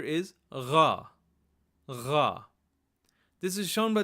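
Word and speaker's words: ग़: And the proper pronunciation is almost like Kha, but you use your vocal cords to vibrate it, and it's a little further down in sound. So instead of saying kha, we say gha, gha, gha.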